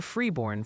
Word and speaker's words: Freeborn: It's apparently Faribault for Faribault now, and a very clear Freeborn for Freeborn.